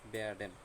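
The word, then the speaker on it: werden: প্রথমে এই একটা ভাগ, তারপরে একটা ভাগ। তো এটা কি হলো? Bear, bear. তারপর এটা ড্যান। তাহলে ইন টোটাল কি হলো? বেয়ারডেন, তাই না?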